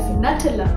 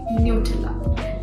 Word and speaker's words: Nutella: And now lastly, my favorite chocolate spread, which is Nutella. But most of them pronounce it as Nutella because of its hazelnut in it. But it's actually Nutella.